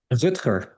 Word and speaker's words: Rutger: So instead of this rivalry between Rutger Hauer characters, Martin, and the captain of the mercenaries, Hawkwood, you get something else.